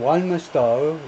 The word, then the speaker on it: Walthamstow: In Walthamstow, 여기가 발음이 좀 까다로워서 발음격을 제가 적어놨는데, 맨 앞 음절에 액센트를 두고 in Walthamstow, an ethnically diverse neighborhood.